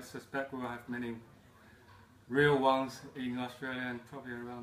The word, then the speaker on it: Wang: But uh as time goes on, I suspect we'll have many real ones in Australia and probably around the world.